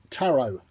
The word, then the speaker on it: Tarot: so vapor a so taro ta our OT silent e taro to under what temperature